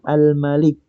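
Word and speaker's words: الملك: Coba diperhatikan di surah al-Fatihah adik-adik kan bacanya maiki yaumiddin begitu ya. Nah, padahal Asmaul Husna itu di sini kita baca Almalik berarti ada beda dong yang di surah Al-Fatihah kan Maliki mimnya panjang kalau di sini mimnya pendek.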